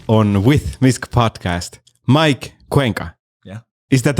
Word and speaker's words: Cuenca: for being here on with misk podcast mike cuenca yeah is that how you pronounce your last name that's how you pronounce